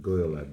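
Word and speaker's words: Gad: Um I I we pronounce it God because of the the vow underneath.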